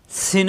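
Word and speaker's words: س: দাঁতের গোড়ায় লাগবে সদ সিন উচ্চারণ জিহ্বা নিচের দাঁতের চাপ দিয়ে সিন সিন বাতাস বের হবে সিন যা জিহ্বা নিচের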